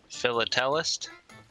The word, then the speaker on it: philatelist: It's a philatelist. I don't even know how to say it. Philatelist?